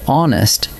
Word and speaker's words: honest: But hour and honest start with a silent H. So what your ear actually catches is a vowel, and that is why they take an.